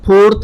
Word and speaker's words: Pharaoh: फेरो मिस्र में राजाओं को फेरो कहा जाता था, स्पेलिंग याद रखेंगे आप, PHARAOH, फेरो, फेरो।